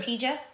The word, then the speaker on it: Cotija: Cotija.